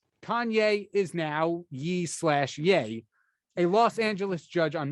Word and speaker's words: Ye: told by our producer it's pronounced yay not ye uh hey kenny is